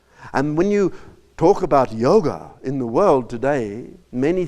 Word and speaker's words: yoga: And when you talk about yoga in the world today, many think yoga is to do with Hatha yoga and the